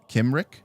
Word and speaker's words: Cymric: Well, why is Google pronunciation doing it wrong? All right, let's see what this is. Cymric. Oh, this one says it completely differently. Cymric. All right. You know what? All right, it's Kimric. All right, Kimric.